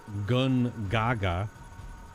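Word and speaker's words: Gongaga: why Mai keeps pronouncing gun Gaga gagaga she's not saying she's not hitting the o n it's G Gaga G Gaga so when I heard her say the gajiani gagaga I was like excuse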